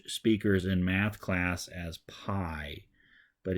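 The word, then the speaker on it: πι: would in the Latin alphabet so the letter P is oftentimes introduced to English speakers in math class as pi but it's actually pronounced P just like the same letter is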